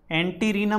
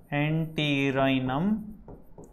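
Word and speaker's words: Antirrhinum: उसका नाम है एंटी राइनम मेजस, एंटीरिनम मेजस भी बोलते हैं, प्रोनाउंसिएशन का मैं बता दूं आपको, एंटीरिनम।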